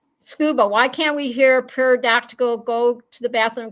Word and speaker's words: pterodactyl: Scuba, why can't we hear pterodactyl go to the bathroom? Because the P is silent.